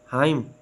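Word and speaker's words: hymn: आए तो यह आवाज नहीं देता जैसे autumn हाइम silent P पी इज not pronounce at the beginning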